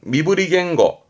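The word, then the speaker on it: 身振り言語: 하면서 뭔가 설명에 따라든 그러면 질문이요 이건 뭘까요 발음은 미브리 겐고 미브리 겐고 어떤 언어 그렇죠 바디랭귀지 몸짓 언어라는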